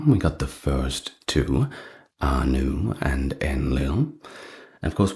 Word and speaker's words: Ea: We got the first two, Anu and Enlil.